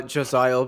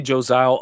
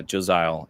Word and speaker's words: Josiale: Yeah, I I always say Josile. Other people will say Josial. You can call me like. Uh, but yeah, Josile is how I I pronounce it.